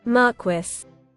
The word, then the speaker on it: Marquis: The marquee. How do you say that? You know what? We're doing it. It It didn't do me right on James' room, but um Can you Marquis?